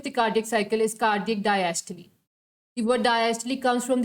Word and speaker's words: diastole: Diastole. It's not diastole. That is a wrong pronunciation. Most of us pronounce it wrong. Therefore, it is diastole and systole because it is originated from Greek language. That is why their pronunciation is like that.